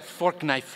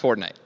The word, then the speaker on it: Fortnite: That's a fork knife reference. Did you say fork knife? It's actually pronounced Fortnite. No, I don't think so.